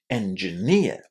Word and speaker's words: engineer: What's the part of the word that's stressed? Engineer. It's the ending, isn't it? Ner sounds exactly in the same way as the word near. Near. This is what you need to say at the end of engineer.